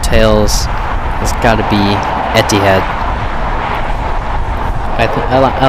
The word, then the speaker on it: Etihad: weirdly and sounds weird I just learned actually how to say I almost thought it was like ethid friends called Etihad it's a middle eastern uh